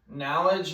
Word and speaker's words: knowledge: to go with knowledge knowledge is actually a k before the end it start it sounds like the K is silent but yeah the N